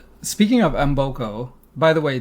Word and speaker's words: Mboko: Speaking of Embokco, by the way, that's how she says her last name on the WTA site, so that's how we will say it. I've heard many different pronunciations, but Vicki says Embokco.